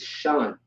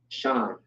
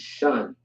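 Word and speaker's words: שן: All right, now we have, this is shun, right? Not shan. It's shun. You have the sh and the na. Shun.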